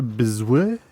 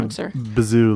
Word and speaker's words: Biziou: I'm going to say Biziou, like kazoo.